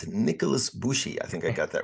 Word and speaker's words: Nikolas Bushi: here today is Nicholas bushy I didn't quite pronounce it Nicholas bushy I think I got that right is that